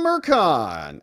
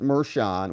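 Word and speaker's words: Merchan: Juan Mercon, actually pronounced Mershon. We say Mercon because it kind of rhymes with Juan. Juan Mercon, it kind of has a cadence to it, but okay. It's Mershon.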